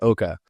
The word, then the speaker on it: Oka: And also, is there a meaning behind the word Oka? Yeah, good question. Yeah, it gets pronounced a number of different ways. Oka.